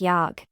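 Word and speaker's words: 약: read it simultaneously as yog since the final consonant giok is without a burst of sound read the word yog as yog rather than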